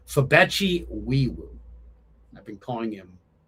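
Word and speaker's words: Febechi Nwaiwu: Uh, Fabeti Eweu. No. Oh, no. Fabeti Wiiwoo. Okay, there we go. That's the correct pronunciation. Fabeti Wiiwoo. I've been calling him Noiweeewoo.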